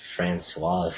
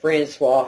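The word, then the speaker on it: Françoise: She didn't say Francoise Hardy, which I think is the proper pronunciation, Francoise. I So I wouldn't think know. she pronounced her name wrong too. But I'm not sure. So any of our French viewers, let me know. It's Francoise if you're a girl, right? And Francois if you're a boy.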